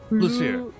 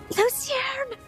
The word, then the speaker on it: Lucierne: Lucierne! There's an N.